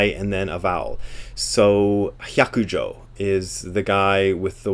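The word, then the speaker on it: Hyakujō: Hyakujo is fox. It's not, as somebody who gave a talk at Angel City Center once did, it's not pronounced hayakujo. So it's hya. When you see H-Y-A, it's hya.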